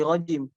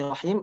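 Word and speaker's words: الرحيم: Rahimnya itu Bismillahirrahmanirrahim jadi rajim. Nah itu kan fatal artinya ya. Karena dia mengubah huruf, dengan mengubah satu huruf aja bisa menjadi fatal. Dari rahim yang artinya Allah Maha Kasih Sayang menjadi rajim, terkutuk begitu.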